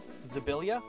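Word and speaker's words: Szablya: If I'm pronouncing this correctly, Sabella. S-Z-A-B-L-Y-A. It is Hungarian for saber. Alright, I like it. S-Z, you said? Yes, S-Z-A-E-L-Y-A. L. Zabilia? Would be how I'd pronounce that? Yes.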